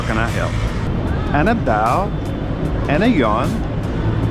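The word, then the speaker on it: ano raw: That's spelled A-N-O-R-A-W, but it's pronounced ana daw, ana rao.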